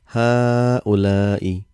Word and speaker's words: هؤلاء: So if you see what I'm saying, there's only sign of single fatha here. There's no mad, but how we pronounce هؤلاء. Same like hada. Originally there was alif here, a mad, but that has been omitted.